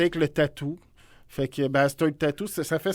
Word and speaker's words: Basstard: Ça vient de, c'est Ouais. mon prénom. Puis Bastard. Bass.